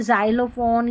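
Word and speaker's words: xylophone: Exam x करके उच्चारण बॉक्स बॉक्स बॉक्स आधा क और स ठीक है और जैसे जाइलोफोन ये स्पेलिंग होती है वहां पर जो एक्स रहता है उसको ज पढ़ा जाता है।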